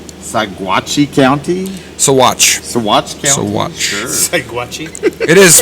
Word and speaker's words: Saguache: Saguache. Sure. Saguache. It is pronounced. It is spelled with a G. There's like a hair or something. It is spelled with a G. Saguache.